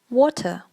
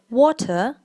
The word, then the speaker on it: water: Okay, and the next word is water. Now, British people say water and Americans say water.